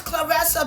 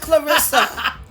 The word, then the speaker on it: Claressa: And he got the name wrong. It's Clarissa, baby. Not Clarissa.